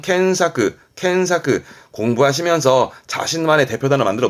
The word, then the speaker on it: 検索: 발음은 켄사크.